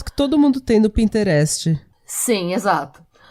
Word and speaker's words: Pinterest: Aquelas fotos que todo mundo tem no Pinterest. Sim, exato. E... Pinterest, eu abrasileirei total a pronúncia. O Pinterest. O Pinterest, o Pinterest, gente.